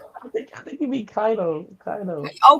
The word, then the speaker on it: Kaido: And I'm gonna have you do a promo on Ko.